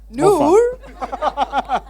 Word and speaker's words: Noor: Noor.